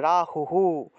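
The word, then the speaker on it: রাহুঃ: রাহুহু, রাহু, তারপরে আবার হয় বিসর্গ থাকায় হ উচ্চারণ হবে, আর আগের অক্ষরের সাথে একটা রস্যকার থাকায় সেই রস্যকারটা যুক্ত হবে, তাহলে রাহুহু, রাহুহু।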